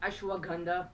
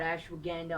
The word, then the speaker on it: ashwagandha: that it's actually pronounced ashwagandha not ashwaganda all right uh stop